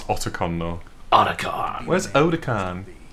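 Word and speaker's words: Otacon: and you're in the back of it where's oda khan well she's never met him she doesn't know how to pronounce everyone else in the game says it's otakon though oticon where's oda khan oh tokan he's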